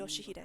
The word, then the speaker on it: Yoshihide: 아니, No, 그 that's not how 글자는 you read 그렇게 those 읽는 게 letters. 아니라 요시히데라고 읽는 Yoshihide. 거다. That's how you say it.